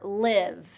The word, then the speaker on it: live: So long E for leave, don't leave me here, and short I for live.